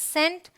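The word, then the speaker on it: scent: alright rule number four अगर सी के पहले एस हो तो सी साइलेंट होता यह बहुत काम की चीज है ये आप ध्यान में रखिए सी के पहले एस आए मतलब एस सी करके अगर आ रहा है इस तरीके से तो सी साइलेंट है आपको स प्रोनाउंस करना है इट्स सेंट साइंस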